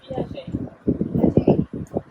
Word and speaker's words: Piaget: Piaget. The T is silent.